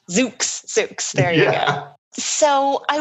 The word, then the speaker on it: Zoox: Did I pronounce that correctly? Yeah, it's actually called Zoox. Zoox.